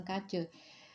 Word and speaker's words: Caatje: Terkait dengan bokap gue yang memiliki anak 5 setelah menikah dengan Kace, Clarce atau Kace deh, kayaknya bukan Clarce ya. Kalau Clarce itu lain lagi, ini emang Kace, spellingnya Caatje, ejaan lama.